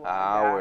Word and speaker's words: hour: Né, em que o hour, H exatamente. Não é pronunciado, né?